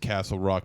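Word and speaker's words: Casselroque: o q u e so it's just pronounced Castle Rock but it's not really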